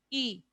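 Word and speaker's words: ㅣ: Y también tenemos esta vocal que es la I de iglesia. I.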